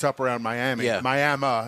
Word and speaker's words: Miami: Miami is how they pronounce it up there.